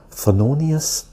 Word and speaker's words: Thelonious: This is the way you pronounce his name or spell his name. T-H-E-L-O-N-I-O-U-S.